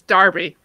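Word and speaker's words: Derby: in lancashire or did they speak darby it's darby debbie one there's this thing where one letter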